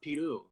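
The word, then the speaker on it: piru: aaron just messaged it it's pirou which means dick in portuguese oh my god i was like how do you say it oh like almost like peru but pewdiepie yeah okay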